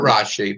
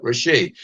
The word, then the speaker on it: Rashi: Not Rashi, but Rashi, because it's a Dagash Chazak in the Shin. Yeah. And we pronounce it according to the Mitzorah. Pardon me? It should be accented on the last syllable.